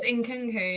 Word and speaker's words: Nkunku: If no, it's you're saying it right. It is Nkunku, yeah.